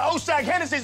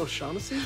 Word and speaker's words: O'Shaughnessy: Now take your ass on down to Oshag Hennessy's office right now and tell him exactly what you did. Who? Oshag Hennessy! Principal O'Shaughnessy?